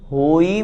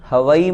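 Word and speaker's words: होइ: में अंत में परमम होई मंगलम हवाई मंगलम नहीं बहुत से लोग परमम हवाई मंगलम इस तरह से बोलते हैं अशुद्ध उच्चारण हो जाता है हवाई नहीं लिखा होई जो हमने उच्चारण किया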